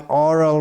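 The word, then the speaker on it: aural: Shravanai, by oral reception. Actually, there's another word, oral, which is pronounced the same, but oral means by hearing, and oral means, O-R-A-L means by speaking. So it's A-U-R-A-L.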